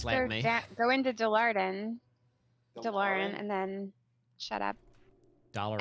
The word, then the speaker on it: Dalaran: Now I need to go to Dalaran. So we call it Dalaran. How does that DeLorean. make you feel? Is that actually how Americans say Dalaran?